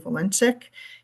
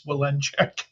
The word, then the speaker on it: Walenchek: Just for edification, my last name is pronounced just like it's spelled. It's Walenchek.